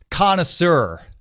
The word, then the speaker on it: connoisseur: that many connoisseur I I'm not sure if I'm pronouncing it in the American way or French it's pronounced connoisseur connoisseur okay that many connoisseur this